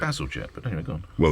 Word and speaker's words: Bazalgette: And Bazalgette in the 19th century was visionary, because he saw that London would grow, and when he everybody knows this.